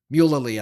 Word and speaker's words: Alan Mulally: And the Ford board brings in a gentleman named, I'm going to mispronounce his name. It's Alan Mulally. Mulally, I think is how you say his name.